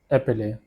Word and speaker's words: épeler: It is pronounced as épeler.